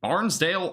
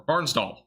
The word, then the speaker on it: Barnsdall: From Barnesdale, Oklahoma. Nice. Or Barnsdall. I think I mispronounced that.